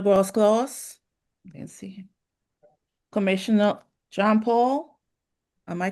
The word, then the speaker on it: John Paul: Commissioner John Paul. Am I pronouncing it correctly?